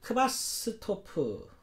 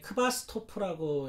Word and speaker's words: Quasthoff: 토마스 크바스토프라는, 여기 보시면 토마스, 이거 독일어인데 크바스토프라고 읽나 봐요.